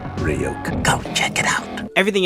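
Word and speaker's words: Ryuk: and he wants to be entertained don't trust riot hey kid it's pronounced ryokan go check it out everything else was objectively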